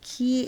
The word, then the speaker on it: chi: It's known to draw chi energy, or I think you pronounce it as ki energy.